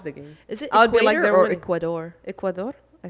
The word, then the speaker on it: Ecuador: you just call Sor I apologize Ecuador I said equator that sound very very